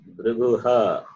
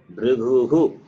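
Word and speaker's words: भृगुः: Similarly, it is not Briguha. What is that? Brigu. Brigu. Briguhu. Briguhu. Sarga takes the sound of hu.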